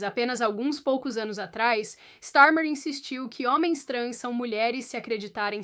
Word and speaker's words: Starmer: No caso do Reino Unido, quando o primeiro ministro K Starmer, cuja pronúncia talvez eu tenha errado, você está pronunciando corretamente Starmer.